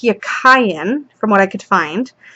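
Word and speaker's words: Jachin: So, Yakin is pronounced Yakayan, from what I could find.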